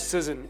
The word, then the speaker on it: SZN: Was it draft SZN? Is that what the kids do these days? It's draft season is how I pronounce it.